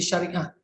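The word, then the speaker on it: Shariah: Actually, it is SH. So the words to pronounce in the transliteration in the standard format is actually Sharia, SHA, RIAH. So that is for the Sharia, not SYE.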